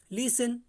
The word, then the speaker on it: listen: उसी प्रकार से नेक्स्ट एग्जांपल देखेंगे, LISTEN, तो इसमें क्या करेंगे, टी मेरी जो है टी, इसमें भी टी आपकी साइलेंट है, तो ये हो गया आपका लिसन।